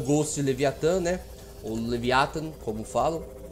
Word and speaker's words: Leviathan: É a segunda opção. É Leviathan. Que eu a ênfase na primeira sílaba.